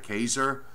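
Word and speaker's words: Keyser: amounts around Hagerstown Cumberland I think that's Kaia Kaiser is how it's pronounced but much of northeastern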